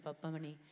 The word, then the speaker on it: Pappamani: And also when you get like a pronunciation wrong, like 8 times, like, Mahalakshmi, Pappamani, it takes you a while. Now I can say it really well, Mahalakshmi, Pappamani. But in the beginning I was saying Papa, Mani, and all sorts of things, so yeah.